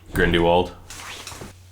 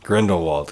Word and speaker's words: Grindelwald: ] what's his name Grindelwald or grindy Wald yeah I don't think that's how that said Grindelwald Grindelwald okay yeah grindywald wasn't